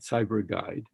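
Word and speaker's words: PsyberGuide: One of them is Cyber Guide, which is spelled P-S-Y-B-E-R Guide, Cyber Guide.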